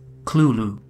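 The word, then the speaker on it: Cthulhu: however lcraft wrote that the closest pronunciation is Kulu unlike clu most horrific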